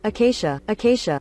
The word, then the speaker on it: acacia: GPT-4 realizes it should craft a wooden axe instead of acacia axe since there's no acacia axe in Minecraft. I hope that's pronounced acacia. Acacia. It's pronounced acacia.